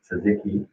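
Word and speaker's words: tzatziki: just beyond belief and uh pronounced correctly sazeki which i always thought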